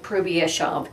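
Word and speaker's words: Hrubieszów: of the city so i'm doing my best to actually pronounce the name of the city as the poles would pronounce it 1942 was a dangerous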